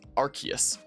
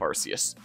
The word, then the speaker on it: Arceus: even matches the name rks arceus as is the correct pronunciation of arceus though i just prefer saying arceus because of the ability